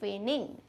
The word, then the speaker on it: feigning: तो correct spelling होगी FEIGNING, फेनिंग। ठीक है, जी हम प्रोनाउंस नहीं करेंगे, जी साइलेंट है, फेनिंग।